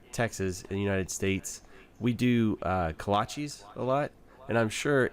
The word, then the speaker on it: kolache: In Czech and Slovakia, kolache, which is the original way how to pronounce it, it's actually a group of baked sweets.